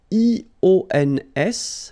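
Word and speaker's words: -ions: So now let's see nous, and nous goes like IONS, okay? And it should be pronounced ion. Remember, final S is not pronounced.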